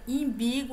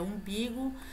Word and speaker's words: umbigo: Imbigo, a pronúncia é umbigo.